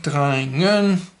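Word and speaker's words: drenge: Dreingen. That's meant to be an R. Flia, which means several. Flia. Drein. Notice that here there's no ER, it's just an E. And this is pronounced dreinge.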